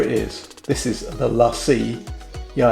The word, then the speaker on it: LaCie: is this is the lassie yeah i know it spells lacy but this is actually pronounced lassie you put it down